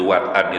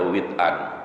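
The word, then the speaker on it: وطئا: lebih terasa syahdu, begitu wat'an itu Bapak Ibu. Bi fathil wawi wa sukunit ta inda jumhur. Jadi wat'an. Jadi bacanya ada yang baca wat'an, ada yang baca wit'an.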